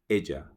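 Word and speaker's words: ella: use Ellie she is Asia remember the pronunciation Asia so L he Asia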